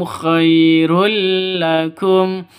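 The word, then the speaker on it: خيرا لكم: Tanwin bertemu dengan lam. Cara bacanya masuk ke lam tanpa dengung.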